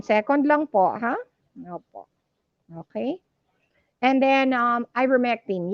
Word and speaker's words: ivermectin: okay and then um ivermectin yes that's how to pronounce it hindi vermectin okay ivor para since you